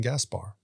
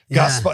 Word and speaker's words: Gaspard: par on purpose because i say gaspar but you're saying it's gaspar gaspar it's almost italian the word so a fellow louisianian